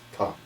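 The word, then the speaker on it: མཐའ: using this word, extreme, which in Tibetan is ta, with a silent M at the beginning.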